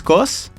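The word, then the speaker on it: KAWS: Cos se escribe K-A-W-S.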